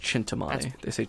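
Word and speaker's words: Cintamani: dagger and thus in Tommy stone were both chintamani domani stone that's chintamani schwindt dump choo choo you might have misspelled it yeah it's see i CIN Timani yeah but it's it's pronounced chintamani that's weird anyway they were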